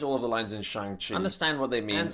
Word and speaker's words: Shang-Chi: Shang-Chi. Shang-Chi. Shang-Chi. Shang-Chi. Shang. S-H-A-N-G. Shang. Shang. Yeah. Here, Simu puts emphasis on the at the end of Shang to help Aquafina pronounce it correctly.